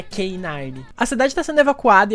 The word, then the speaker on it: K9: Quantos anos você tinha quando descobriu que os policiais caninos se chamam K9 porque em inglês a pronúncia é K9?